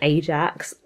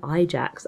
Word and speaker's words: Ajax: The Unknown Ajax, I've got to be honest, I did not love the romance because she's his cousin. I mispronounced it. The Unknown Ajax, I believe, is the actual title.